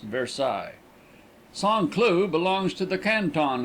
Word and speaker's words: Versailles: Cloud is 7 miles west of the center of Paris and almost 10 miles by rail on the road to Versailles pronounced Versailles.